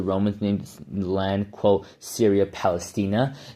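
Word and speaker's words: Syria Palaestina: Now, from 400 BC, many pro-Palestinians argue that the Romans named the land, quote, Syria Palestina, Syria Palestania, if you want to pronounce it correct.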